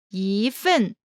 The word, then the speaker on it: 一: 和 Pronunciation note: when 一 1 is followed by a fourth tone, it changes to the second tone, 一 such as 一份 here is the variation pattern.